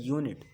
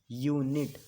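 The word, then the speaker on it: unit: यहाँ पर आप बोल रहे हैं यूनिट, यहाँ पर आप बोल रहे हैं यूनिट, यूनिट, क्लियर है ना। तो यूनिट आप इसका जो प्रोनाउंसिएशन कर रहे हैं कॉन्सोनेंट साउंड से कर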